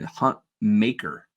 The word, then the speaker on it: Hutmacher: Now, I heard that in the pronunciation guide, it shows that he should be named Hunt Maker, and I'm like, really?